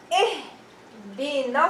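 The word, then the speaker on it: اهدنا: kasra or a fatha, Hamzat al-wasl will be pronounced with kasra, and we're going to say what? We're going to say ihdina sirat.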